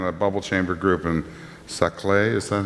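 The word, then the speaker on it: Saclay: post do in a bubble chamber group in saay is that how it's pronounced yes uh France using the same CDC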